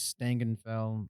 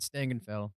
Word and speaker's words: Stangenfell: Just as a correction, it is Stangenfell. I wrote a sloppy TA next to it, so when I re-looked at my notes today, I've been pronouncing it wrong.